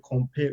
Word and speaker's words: compare: Again, in English, we usually have this schwa sound.